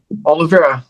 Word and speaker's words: Olivera: Olivera.